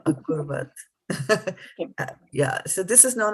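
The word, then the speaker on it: अकुर्वत: And then, yes, and this is still Kim Kurvat for you. It should be Kim Akurvat.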